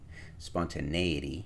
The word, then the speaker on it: spontaneity: So let's confirm that spontaneity, not eity. So slot 4, slot 4. Okay, canceled out. And when you go A, it's short E. So long A spelled with an E, short E.